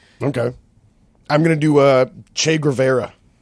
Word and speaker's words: Guevara: Che Guevara. Guevara, I think. It's like Gruyere cheese.